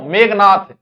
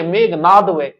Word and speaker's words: मेघनाद: आप गलत लिख दोगे क्यों मेघनाथ मेघनाथ बोले सही मेघनाथ बोले तो लोग मेघनाथ ही लिखेगा जबक व कि मेघनाद तो गलत बोलो तो गलत